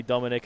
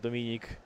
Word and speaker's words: Dominik: I've noticed myself, if I speak English for long enough, I start to say the like the English pronunciation of the Polish name. So yeah. like I say Dominic instead of Dominik.